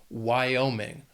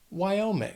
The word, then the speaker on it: Wyoming: Also has 3 syllables, and the stress is on that second syllable, Wyoming. Wyoming.